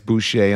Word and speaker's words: Heather Boushey: And Heather Boushey, it's right, it's Boushey.